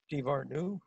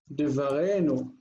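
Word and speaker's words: דְּבָרֵנוּ: How do you say our? No. Divarnu. Mm-hmm. Very close. It's Enu. Divarenu.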